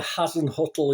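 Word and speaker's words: Hasenhüttl: saints and i was in particular as mr hassan huttle is how you pronounce i just call him the saints manager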